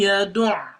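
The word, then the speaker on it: يدعّ: فَذَلِكَ الَّذِي يَدُعُّ الْيَتِيمِ. You see the here? Many people make the mistake without pronouncing the ayn with the shadda.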